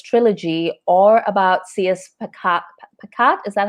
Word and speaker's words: Pacat: Pacat, is that how you say her name? Yeah. Okay, Pacat.